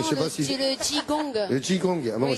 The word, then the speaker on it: qigong: Ouais, je vous ai un peu planté parce que ça s'écrit QI et ça se dit Qigong.